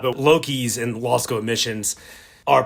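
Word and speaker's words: LOCIs: it does not but loki's and law school missions are pronounced like the norse god loki so there was a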